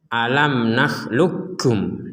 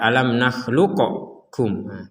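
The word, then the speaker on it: أَلَمْ نَخْلُقْكُمْ: dalam ee huruf setelahnya Jadi dibacanya alam naklukkum langsung ke Kaf alam naklukkum bukan dibaca alam nakluqum jadi langsung ke Kaf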